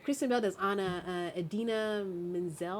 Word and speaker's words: Idina Menzel: Idina Menzel, I think is how you say her name.